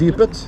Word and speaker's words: Dypet: Coming to your current album, Dypet, is it pronounced correct? Dypet, yes. Dypet, yes, perfect. I think it's a Norwegian word for abyss.